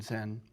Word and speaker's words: Zen: of the Chon or Zen tradition once again Chan is the Chinese pronunciation Zen is the Japanese and by the way